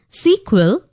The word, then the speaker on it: SQL: the full form of SQL often pronounced as sequel is structured query language